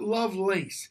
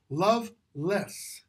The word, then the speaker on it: Lovelace: Lovelace and by the way that's how you pronounce that name not Lovelace it's love less why literally historically that's how that name is